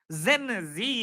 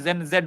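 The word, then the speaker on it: Gen Z: जेन जी या जेन जेड, जो भी प्रोनाउंसिएशन अलग अलग लोग करते हैं, मैं जेन जेड बोलता हूं और जेन जेड ही है।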